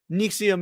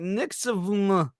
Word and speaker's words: NXIVM: and Who who pronounces when you look at this I feel like nium is not what's going to come to your noaggin this is like nix like to be fair